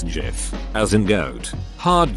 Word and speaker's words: GIF: It's gif, as in goat. Hard G.